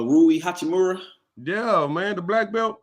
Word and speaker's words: Rui Hachimura: what to do uh hakumara how you say his name no uh rui hachimura yeah man the black